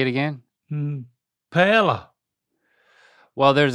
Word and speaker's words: paella: It really needs an I. So it's not a silent I, it's an invisible I. So try that. Add an invisible I in there. Paella. Add the I earlier. Oh. Paella. That's getting there. Paella. Paella. And that Paella. But the L's are a Y.